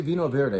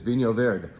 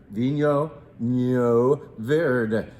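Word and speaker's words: Vinho Verde: I know you can say Vino Verde if you want, but the correct pronunciation, pretty much, I'm not Portuguese, but the best try at it is Vino Verde. Vino Verde.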